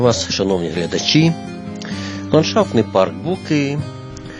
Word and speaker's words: Буки: шановні глядачі ландшафтний парк Буки Ну а можливо треба наголос по-іншому ставити БукИ ну всі звикли казати БУки він створений місцевим підприємцем